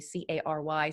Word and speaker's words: Cary: And his name is spelled in the episode, but it's Cary, Cary.